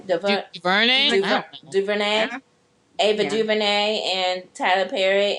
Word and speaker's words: DuVernay: Come on, Tyler Perry, Ava DuVernay, how do you pronounce her last name? DuVernay.